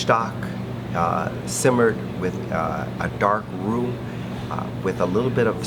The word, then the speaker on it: roux: It's pronounced roux. It's spelled R-O-U-X.